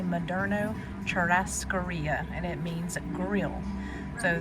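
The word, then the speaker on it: Moderno Churrascaria: I have gotten the rundown on how to pronounce that. And I do not say it as pretty as our waitress did, but it is apparently Madno Cherasaria and it means grill.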